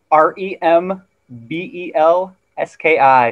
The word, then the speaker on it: Wyrembelski: so it's w y r e m b e l s k i and the w y is silent so it's just rembelski oh very cool very